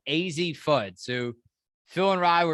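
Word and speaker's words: Azzi Fudd: pointed out they're like why are you saying her name wrong and we apologize for that it's i'm almost 100 sure it's easy foot so phil and ryan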